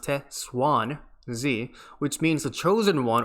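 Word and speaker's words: Te Xuan Ze: So Test 1Z, Te 1Z, pronounced Te Swan Z, which means the chosen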